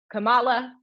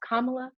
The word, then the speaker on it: Kamala: still mispronouncing her name it's not kamala it's not camella it's not pamela it's kamala um and um also